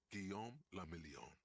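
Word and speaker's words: Guillaume Le Million: Gon Lamelon. If it doesn't rhyme, you're not pronouncing it right.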